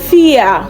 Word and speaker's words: vier: Now we have R in this word, but it is not pronounced vier.